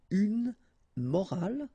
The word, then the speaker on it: morale: but in that case you've got this e at the end, which is silent, so you don't pronounce it. So clearly it is the same pronunciation for the two words, but then in that case it's feminine, une morale, okay?